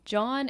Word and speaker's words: Jawn: John, it's spelled Jawn, and it's basically anything at all.